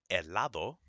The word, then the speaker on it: helado: Never, never, never pronounce an H in Spanish. Okay? If you see it, know it's there, but you don't pronounce it.